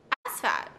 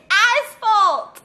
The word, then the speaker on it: asphalt: it one more time with the straight face ass fat okay i must spell it for you a-s-p-h-a-t aspect is that what it is it's asphalt how do you spell it a-s-p-h-a-l-t okay this